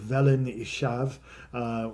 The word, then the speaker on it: Felin Uchaf: And we're gonna get wonderful people like Christopher from Wales over, and guys from I believe it's called Felin Ishav, which is spelled Felin Uchaf, but that's a centre where they do natural building techniques in Wales.